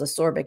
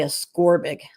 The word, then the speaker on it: ascorbic: C is ascorbic acid I just heard that pronounced today from Siri because I thought it was a sorbic acid so I don't know Siri knows everything so I'm gonna say ascorbic it sounds dumb but